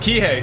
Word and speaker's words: Kihei: so fun fact i guess but it's pronounced kihei thank you jamie he hey hey okay well